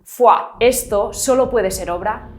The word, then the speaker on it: foie: Porque vamos a ver, esta palabra tiene 3 vocales y casualmente se pronuncia con las 2 que faltan. Foie.